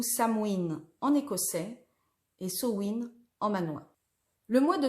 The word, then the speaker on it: Samhain: fête nationale et que le nom gaélique que l'on prononce so in on voudrait dire fin